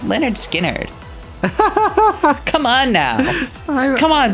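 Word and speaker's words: Lynyrd Skynyrd: their 1973 debut album pronounced leonard skynyrd it was written by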